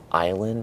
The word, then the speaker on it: island: That's actually the same reason that island has an S, even though we don't pronounce that letter.